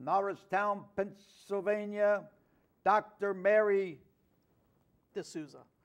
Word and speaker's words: DeSouza: guest is from nist toown Pennsylvania Dr Mary duza how do you say it Desa okay good one of those names that you